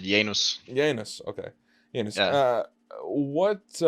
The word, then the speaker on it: Janus: I pronounce it Janus.